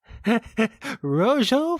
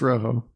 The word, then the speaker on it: Rojo: was that's amazing though Rochelle Fuego I'm sure I'm pronouncing that wrong I never took Spanish Rojo Fuego yeah it's Rojo I never took Spanish